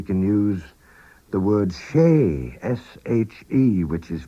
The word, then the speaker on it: she: emphasize something we can use the word she s h e which is pronounced she which can be translated as it